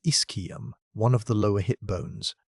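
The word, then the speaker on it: ischium: When researchers reviewed its injuries, they found that with the single exception of a broken Iskum, pronounced Iskum, one of the lower hipbones, every traumatic injury on Big Al 2 shows unambiguous evidence of healing.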